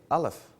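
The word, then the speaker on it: Aleph: of the Hebrew alphabet they pronounce their letter A Alf and it means breath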